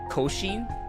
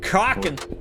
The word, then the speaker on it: Cochin: no cochin cochin i would it would have been absolutely that the pronunciation is actually cocking kraken chickens excuse me